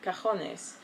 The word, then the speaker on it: cajones: It's an A for cajones, is drawers, singular being cajon, and O, cojones, for balls.